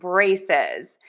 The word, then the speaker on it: braces: So, two syllables, stressed syllable number one. Braces. Braces. Braces. Braces. Braces. Stress syllable one, brae, and don't forget the Z in syllable number two.